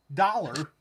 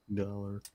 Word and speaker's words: Dolla: Dollar. SmackDown drafted Top Dollar. Keep in mind, his name is spelled Dolla. Dollar. Top Dollar. Top Dollar. It's pretty simple to say.